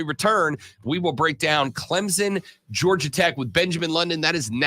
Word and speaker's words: Clemson: in Clemson, South Carolina. Oh, you said it right. Clemson. Clemson with a P in it.